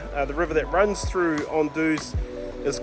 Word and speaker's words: Anduze: I'm living here in the area of Anduze, not directly in Anduze, but my family is from the surroundings here in the area.